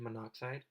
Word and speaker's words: monoxide: Well, if you left it like that and you try to pronounce it, it would sound like you're saying monoxide, but it's actually monoxide.